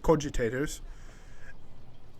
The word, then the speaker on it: cogitators: It's had enough hidden nooks, manufacturing cogitators, that's how you say it, cogitators, and used to be